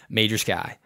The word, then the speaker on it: Majerski: It was Majerski, right? Right. But for those of you wondering how to spell that, it's literally Major Sky. Yes. So if that helps you with my pronunciation, it's Major Sky.